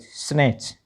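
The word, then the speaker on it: snatch: तो टीसीएच में T silent रखना। ठीक है? पी ए टी सी एच पैच एल ए टी सी एच लेच और एस एन ए टी सी एच स्नेच इसका meaning होता है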